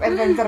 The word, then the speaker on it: ETT Venture: Adventure adalah singkatan dari Etawa Venture. Ya, tapi namanya tetap Adventure, bacanya tetap Adventure ya. Tulisannya ETT Venture gitu.